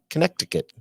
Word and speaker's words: Connecticut: Like connect? That's how it's spelled. Ticket? Yeah, that's how it's spelled. Connecticut. And we're going to visit a little town called Southington.